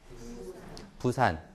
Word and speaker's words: 부산: 푸산이라고 읽잖아요. 푸산. 그래서 푸산 하하 이렇게 웃는 거죠. 네. 얘는 어떻게 읽죠? 부산 이렇게 읽죠.